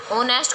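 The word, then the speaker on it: honest: लेकिन जो अब जब वर्ड को पूरा हम पढ़ते हैं, जैसे ऑनेस्ट को हमने पढ़ा तो हमारी साउंड क्या आ रही है? ओ, यानी वोवल की साउंड आ रही है. एच हमारा साइलेंट वर्ड है इसमें, इसलिए ये क्या है?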